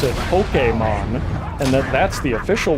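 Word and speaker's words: Pokémon: Even though they tried they tried putting that little uh uh that little accent mark over the e, it never caught on. A lot of people just say Pokemon or sometimes Pokemon if they're feeling real spicy cuz in English we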